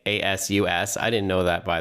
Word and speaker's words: ASUS: ASUS is how you properly pronounce the company's name. ASUS.